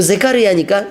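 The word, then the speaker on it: זכריה: 그럼 제카르야니까 스가랴하고 비슷하죠? 그러니까 원래 히브리어 발음은 제카르야입니다.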